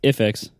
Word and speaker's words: IIfx: It's pronounced IIfx.